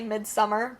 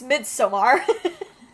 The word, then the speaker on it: Midsommar: I know some people say Midsummer, but we are purists. It's Midsommar. I've never checked to see how anyone in the movie pronounces it, but I'm pretty sure. I'm pretty sure. Like, it ends in AR.